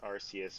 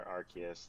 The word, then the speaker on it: Arceus: It's either the pronunciations Arceus or Arceus.